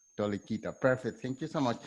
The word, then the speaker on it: Toleikyte: more time please the tricky one it's called tolekita tolikita perfect thank you so much okay so uh